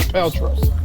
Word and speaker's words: Paltrow: Paltrow.